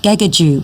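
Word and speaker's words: Gagudju: Kakadu is actually, here's your hot tip for the day, Kakadu is actually a mispronunciation by non-Indigenous people of a language that was spoken in that area, Gagaju, which is now an extinct language.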